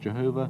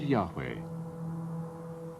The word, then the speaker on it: Yahweh: y h v h it was probably not pronounced jehovah but yahweh only one object has